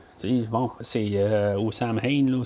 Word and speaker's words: Samhain: Bon, c'est au Samhain, là, ce qui est écrit dans le deuxième film, là, mais qui se prononce supposément Samhain, finalement, c'est correct.